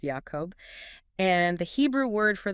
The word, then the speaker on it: Jacob: There is an intentional phonetic pun between the name of the river Jabbok, pronounced Yabbok, the name Jacob, pronounced Yacob, and the Hebrew word for the wrestling itself, Yavak.